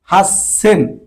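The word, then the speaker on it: はっせん: এই যে 8000-এর ক্ষেত্রে ব্যতিক্রম, হাসসেন, হাসসেন। 8000 কি বলে? 8000 দেখুন আমরা গণনার সময় বলছি কি? হাসসেন, মানে হাস সেন, ছোট ছোট কারণে এই ডাবল এস হয়েছে, মানে একটা বেশি আসছে।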